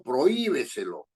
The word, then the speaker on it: prohíbeselo: sobreesdrújulas no Por ejemplo si yo digo prohíbeselo dónde esté el acento predominante Dónde está la sílaba tónica en y prohíbeselo entonces sale prohí y quedan tres sílabas b c clo O sea que está en la anterior al antepenúltima también ese pro y prohíbeselo tiene que ir con acento gráfico o tilde entonces estas estas reglas